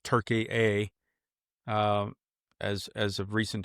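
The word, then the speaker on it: Türkiye: It's a site in southeastern Turkey, now pronounced Turkey A um as as of recent change, but um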